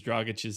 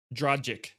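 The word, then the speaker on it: Dragić: around from tyler hero you're like the only one that pronounces dragach's name properly so i didn't that was a thing on our shows last year i can't even say it the wrong way now dragic yeah so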